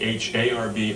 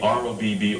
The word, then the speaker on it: Hrab: h r a p h a RB r o BB r a BB it's h r a it's a Ukrainian name um rhymes with job pronounced har or Rob